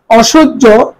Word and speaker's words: অসহ্য: এরপরে অসহ্য, খেয়াল করো, অসহ্য এর উচ্চারণ করি অসহ্য, অ তালব্য সহকার বর্গীয় জ হসন্ত জ।